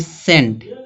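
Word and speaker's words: scent: सी साइलेंट होता है, यहाँ पे दिया है कि सेंट। ठीक है, सेंट मीन्स होता है इत्र होता है, तो यहाँ पे सी क्या है, साइलेंट है।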